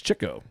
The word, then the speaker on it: Chico: It's Chico. Chico. That's the Italian one. Yeah. He's the oldest. It's Chico because he loves chicks.